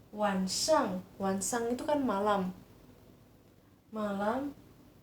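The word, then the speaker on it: 晚上: Nah, biasa diucapkannya wansang.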